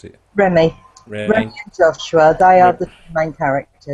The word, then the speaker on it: Remy: How do you pronounce it? Remy.